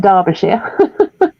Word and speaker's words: Derbyshire: It's Derbyshire. We pronounce it Derbyshire.